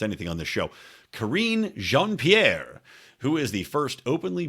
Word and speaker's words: Karine Jean-Pierre: brand new gal a nice shiny pony named corinne jean-pierre i'm sure i'm saying that correctly because you know i never mispronounced anything on the show karine jean-pierre who is the first openly black openly gay